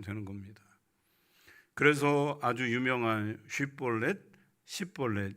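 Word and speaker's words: שיבולת: 쉿볼렛 발음이 안 되고 십볼렛 이렇게 발음하면 요거 에브라임 지파구나 하고 다 죽여버린 거예요.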